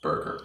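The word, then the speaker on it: burgher: then h e like her but it's still pronounced burger okay so this is an older word that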